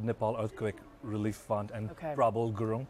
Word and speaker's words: Prabal: You know, you should go to CrowdRiser, and under that, you know, I have Nepal Earthquake Relief Fund and Prabal Gurung, Prabal, like, trouble with a P.